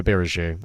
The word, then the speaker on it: Abiraju: And then Aberiju. Or Abiraju. It's actually Abiraju.